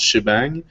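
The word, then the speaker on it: shebang: des fois en ligne ça se prononce cheibang c'est juste les programmes les programmeurs il prononcent le di che puis le point d'exclamation bang c'est un che bang c'est j'imagine quand tu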